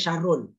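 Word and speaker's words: شَرٌّ: Bacanya syarrun, ya tanwin.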